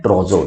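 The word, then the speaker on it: trousseau: ट्रोजो मतलब क्या होता है, ट्रोजो इज करेक्ट प्रोनाउंसिएशन इज ट्रोजो।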